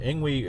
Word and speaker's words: Engwe: um a company uh angu I think it's called pronounced Ang we uh reached out to